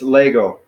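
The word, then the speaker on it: λέγω: legal right right so the accents on the first syllable though so it's it's Lego Lego so it starts you know like emphasize Leia go yeah well we've actually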